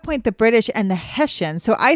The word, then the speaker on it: Hessians: I type it in, and it's the Hessians. So King George she kept saying the Haitians had paid troops for hire.